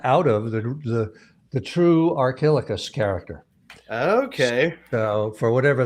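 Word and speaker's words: Archilochus: hedgehog one good one arco locus am i pronouncing that correctly arcolocus it's uh uh archilicus really our kilograms okay thank you yes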